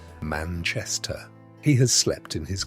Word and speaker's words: Manchester: mattress in a damp cellar room in Manchester, pronounced Manchester.